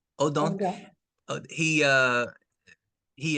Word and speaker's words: Odent: Odon.